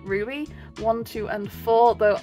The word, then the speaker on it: RWBY: as we have RWBY I think actually you pronounce it Ruby one two and four